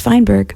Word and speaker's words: Feinberg: And it's pronounced Feinberg.